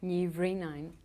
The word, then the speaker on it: Ní Bhríonáin: But I didn't want to do the rest of it because of being Ní Bhríonáin. You've got to be, you've got to speak Gaelic to be able to pronounce it, because if you look